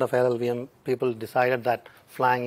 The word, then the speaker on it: Flang: lvm people decided that flying is the right name for that project uh so that rhymes with clang also uh it was